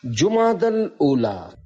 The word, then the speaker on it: جمادی الاولی: جبکہ یہاں تیسرا نہیں۔ لغت کے اعتبار سے ان دونوں مہینوں کے درست نام اور صحیح تلفظ یہ ہے، جمادی الاولی، جمادی الاخری اور جمادی الاخرہ۔ پیارے پیارے اسلامی بھائیوں،